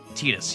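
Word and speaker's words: Tidus: there, but I can't really do like talking Tetus, but narration Tetus like I can do that cadence kind of.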